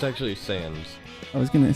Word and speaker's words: Sands: It's actually Sands. I was going to say, how do you pronounce that when it first started?